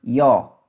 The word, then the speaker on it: yo: is I now again here I pronounced Joe but some other people pronounce y'all so whichever you prefer or you feel it's not right or wrong some part of world